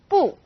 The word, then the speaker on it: 不: We have a tone alert for 不. When used on its own, 不 is fourth tone, 不. When 不 is used before another fourth tone, it becomes second tone, 不谢 or 不用谢.